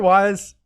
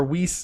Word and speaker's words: Weiss: Connor Wise. Or Weiss, which I actually learned is how you say it. It is Weiss?